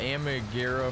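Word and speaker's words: Armaguerra: but if you're curious um i ran the amigura 43 that's how you say it uh for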